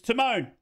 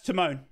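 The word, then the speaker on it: Tymon: It's pronounced time, is it? I'm sorry, it's spelt Timon. It's T-Y-M-O-N. That's Timon.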